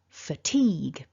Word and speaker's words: fatigue: this particular word is the final three letters depending on your own language history your native language and other foreign languages you've studied potentially you might want to say a gui or a way or a grey there are lots of ways that different people interpret this word but remember it's a teague teague so one last time